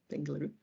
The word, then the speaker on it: Bengaluru: of astrophysics at bengaluru that's how you pronounce it bengaluru in india for again